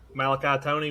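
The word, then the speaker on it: Malachi Toney: Fun fact, Carson Beck, the day he signed with Georgia, Malachi Tony was 12 years old.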